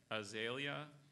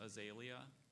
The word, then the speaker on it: azalea: Can you pronounce that one more time, please? Azalea, sometimes azalea.